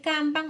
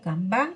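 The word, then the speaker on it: kanban: Otro concepto también importantísimo es el canan o canván, como quieran pronunciarlo.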